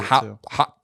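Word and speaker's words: Haut: Oh, Singulare is the Hot 10. What? Yeah, how do you spell it? What? H-A-U-T. Right. Is that what it is? Hot.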